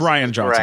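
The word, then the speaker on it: Rian Johnson: Or it's Ryan Johnson, great. right? That's the right. Yeah, pronunciation.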